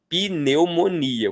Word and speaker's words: pneumonia: de letra muda, então o brasileiro não fala pneumonia. O brasileiro fala pneumonia, como se tivessem 5 sílabas, mas na escrita tem apenas 4.